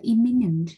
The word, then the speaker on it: imminent: Hai từ này thì nó có cái đuôi minent giống nhau, thế nhưng mà cái cách đọc thì khác nhau, một là imminent và hai là eminent, và nó đều là